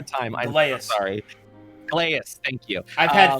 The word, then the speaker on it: Gilneas: It's very he's always impressed by the oh god, my brain can you pronounce it one more time? I'm so Gileas. sorry. Gileas, thank you. I've had 3 he's people call it Gilneas, so it's okay.